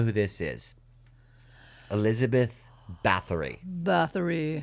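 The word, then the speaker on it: Báthory: this is elizabeth bathory bathory otherwise known as battery that's how they actually pronounce it in romania or hungaria but anyway everybody knows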